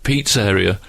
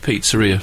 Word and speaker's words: pizzeria: it and had to forcibly stop myself saying piz area I had to really you don't read Pizzeria very often well the way the way you